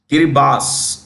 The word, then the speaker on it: Kiribati: Islands yeah kiribas so kiribas written Kiribati but pronounced okay so if you